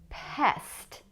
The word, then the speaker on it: pest: Try to make the second one with the mouth more open. Pest, past. Can you make the difference?